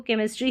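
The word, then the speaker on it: chemistry: इसको केमिस्ट्री ही पढ़ेंगे।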